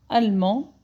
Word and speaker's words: allemand: Donc, la nationalité allemand. Le D, je ne le prononce pas.